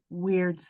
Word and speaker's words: Wyrd: dreamwell theater company's upcoming production of weird sisters and that's spelled wyrd along with cast members